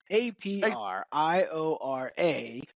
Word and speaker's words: Apriora: So prior is in the middle of two A's. How do you like that? A prior A. Yeah. So prior, just think prior. and throw an A on each side.